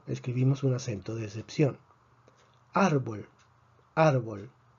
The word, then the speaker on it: árbol: Árbol tiene 2 sílabas, termina en una consonante que no es ni N ni S. Predecimos que la fuerza debería estar en la última sílaba, no lo está. Por lo tanto, escribimos un acento de excepción.